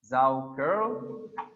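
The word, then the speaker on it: Saukerl: Zauker, pronounced Zauker, is for a male.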